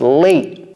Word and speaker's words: late: ends it with e it's a non sounding e it's not late right it's not wisy it's not niy no it's late late wise nice all